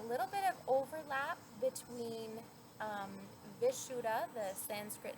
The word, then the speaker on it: Vishuddha: So, as I mentioned, the Sanskrit name is Vishuddha, or sometimes it's pronounced Vishuddha, and this means purification.